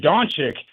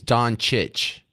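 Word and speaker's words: Dončić: fan because you said Doncic. And I didn't say it right. So how do you say? I think you're supposed to CH both of those C's. Doncic. Doncic instead of Doncic.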